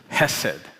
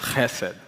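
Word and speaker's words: חסד: So one of the Hebrew words for love is hesed, or it should be pronounced chesed, which is actually a difficult word to translate in English, thus the many translations.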